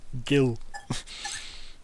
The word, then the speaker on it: Gil: If Yeah, not for but the fact that Jill was like, hold them off, go, tell my dad. It's a hard G, but yeah, Gil.